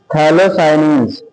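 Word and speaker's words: phthalocyanine: दी जाती है डोब्ड थैलोसाइन पी ए P silent होता है बेटा हम स्पेलिंग बोल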